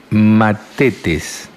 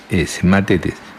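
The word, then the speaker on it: μαθητής: Y vamos a ver lo que es un discípulo, y la palabra discípulo en griego se escribe matetes, M-A-T-H-E-T-E-S, matetes, que significa uno que aprende instrucción de otro.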